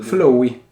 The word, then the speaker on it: Flowe: Come si legge Flow intanto? Flowey. Flowey. Prendi visione dei documento Flowey.